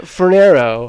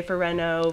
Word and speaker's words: Fornero: Most people say Fornero, Fornero. I was just thinking it sounded like Nero, because the... Yeah. Well, I used to say, like, the shoe size, Fornero.